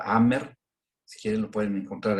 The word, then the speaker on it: Hammer: Bueno, otro hombre de ciencia que fue se llama Dean Hammer, que es un biólogo genetista, con H muda, Hammer, si quieren lo pueden